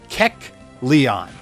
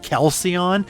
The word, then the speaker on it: Kecleon: 1% chance for a Kecleon. I always hate pronouncing it because for some reason my brain sees it as like Kelceon, and it is not. It is Kecleon.